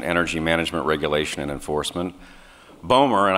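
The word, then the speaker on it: BOEMRE: management regulation and enforcement bomer and i gather somebody had some trouble pronouncing it it's bowmer just so everyone's clear was created by secretary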